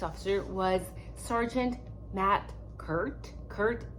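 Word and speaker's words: Kuhrt: Kurt is spelled K-U-H-R-T, in case you guys want to do your own research on this sergeant.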